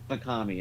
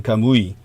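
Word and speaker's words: Kamuy: high level that golden I found out it's actually pronounced golden kamui. Uh that particular one. Yeah, it's different from kami which means gods.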